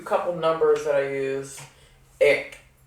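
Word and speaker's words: एक: Ik. Which is spelled E-K. Ik means one.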